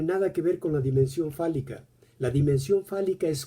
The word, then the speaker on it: dimension: En francés, dimensión la va a cortar di de dicho y mansión, pronunciado así, mansión como en español, la casa, el lugar del dicho, la morada del dicho.